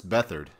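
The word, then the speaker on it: Beathard: uh it's not 100% be hard is it beat hard like yeah beard I call him beard it's bethard okay I was like how are you I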